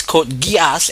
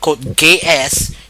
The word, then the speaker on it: Code Geass: the Cod Gas series of reviews that is code gas and not code GS as some people pronounce it incorrectly um all right code gas